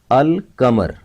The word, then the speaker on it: القمر: حروف قمری کہتے ہیں، کیونکہ قمر پر جب الف لام لگائیں گے تو لام کی آواز ظاہر کی جائے گی۔ القمر اس کا استعمال صرف